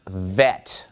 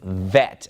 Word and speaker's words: vet: But when we remove the dot, it becomes Vet and makes a V sound.